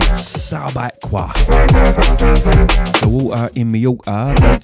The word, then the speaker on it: Subaqua: Sounded all continental when I pronounced that. Nah, mate, Subaqua.